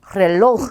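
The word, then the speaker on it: reloj: 자, 얘도 끝에서 첫 번째인 여기에 강세가 오겠죠. 그러면 읽으실 때 렐로흐 이렇게 읽으시면 되죠. 단어의 첫 글자에 왔기 때문에 얘는 굴려줘야겠죠. 발음도 잘 체크해 주셔야 돼요. 그래서 렐로흐입니다.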